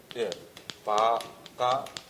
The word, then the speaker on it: 바가완: 그래서 바가완. 한국에서 반 이렇게 이런데, 그죠? 인도에서는 가보면 전부 워 발음을 합니다.